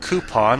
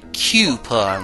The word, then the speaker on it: coupon: I've heard coupon, like the way I say it. And I've heard people say coupon, like a cube.